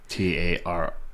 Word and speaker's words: tarot: Like, so tarot and Oracle cards, they're similar. They're different. Tarot or tarot? Tarot. Okay. Tarot. OT. Oh, it is there, but it's a silent.